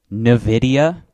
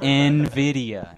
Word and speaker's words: Nvidia: wait wait hold on Nidia yeah that is definitely not how that is pronounced oh Nvidia Nvidia Nvidia man I